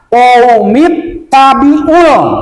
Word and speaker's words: قوم اتبعوا: Jadi ya qaumi, ya panjang 2 harokat, qaumit tabi'ul bacanya.